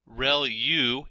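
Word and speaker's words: ReLU: there are multiple hidden layers like convolution layer Rel U is how that is pronounced when that's the rectified linear unit that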